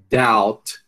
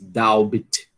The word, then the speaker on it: doubt: Doubt, a gente não diz doubt, diz doubt.